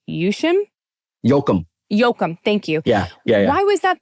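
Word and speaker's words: Yoakum: So, I want to know why and I um I might be pronouncing her last name wrong, but why is Rock Paper Scissors Love Death by Carolyn M. Yushim Yokum Yokum.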